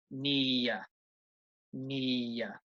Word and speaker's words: near: Now, if you say this very slowly, I think you can probably say it's 2 syllables. Near, near. However, I think most people say this very quickly, normally. Okay, it's near the bus stop, for example. That's very fast. So I think really at natural speed when you're speaking English, near is only 1 syllable, really.